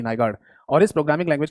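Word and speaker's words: Nygaard: इसकी स्पेलिंग है एन वाई ji double A आर डी नाइगार्ड।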